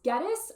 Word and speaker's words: Geddes: For those of you who have never met me before, my name is Miss Geddes. I tell the kids that it rhymes with lettuce, but they can also just call me Miss.